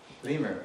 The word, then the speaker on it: lemur: Lemur. It rhymes with femur. I usually have to give the hint. It rhymes with a bone in your leg.